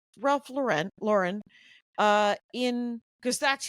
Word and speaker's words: Lauren: Ralph Ral Lauren as but he says it's pronounced Ralph Lauren yeah yeah all I